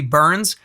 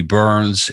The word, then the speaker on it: Byrns: my name is burns and it's interesting that my last name is pronounced burns because i am a